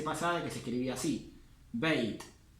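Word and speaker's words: بيت: Beit. Beit. Acuérdense que esta fatha, la A, siempre que va seguida de una I, termina pronunciándose como una E. Por eso digo beit y no bait.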